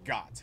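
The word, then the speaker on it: Goht: And ooh, yes, the wiki says it's pronounced Gott, as much fun as Gott it would be if you were the goat.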